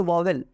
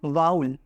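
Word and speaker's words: vowel: is called syllable and I said वाउल नॉट वॉवेल इट इज नॉट वावेल इट इज वाउल okay so यू कैन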